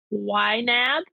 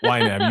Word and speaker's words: YNAB: Number 33, use an online tool like PC Mint or YNAB. Is that Yes. how you say it? Yep. YNAB.